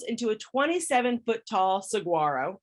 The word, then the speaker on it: saguaro: a 27 foot tall saguaro or saguaro i think is how you say it and didn't even finish